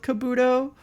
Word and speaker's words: Kabuto: had this conversation before I think I'm pronouncing Kabuto right the only reason that I think that I'm pronouncing Kabuto right is because there's a like a like a hiachi restaurant called Kabuto and they pronounced it Kabuto so I assume he pronounces it like the Habachi restaurant and if not then